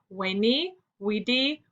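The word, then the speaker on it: veni, vidi, vici: battle caesar finally claimed vani vedi vichy pronounced in caesar's day as we knee we di meaning in latin i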